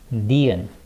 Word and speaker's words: 니은: And next we have 니은, 니은. And in English pronunciation, it sounds like 느, N.